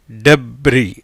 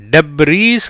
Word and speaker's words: debris: டெப்ரி, டெப்ரீஸ் கிடையாது, டெப்ரி. எஸ்ஸுக்கு உச்சரிப்பு கிடையாது, அதனால் இது என்னது? டெப்ரி அப்படிங்கிற ஓசையில் உச்சரிப்பில் வருது.